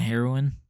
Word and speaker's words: heroine: Weekly Shonen Jump new hero and heroine. Heroine? I don't know what that fucking word, how that heroin, is that how you pronounce it? Like the fucking drug?